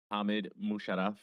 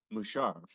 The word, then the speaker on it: Musharaf: Musharaf with me. Did I say that right? Uh, it's Mushar. Musharov. Yeah. Yeah.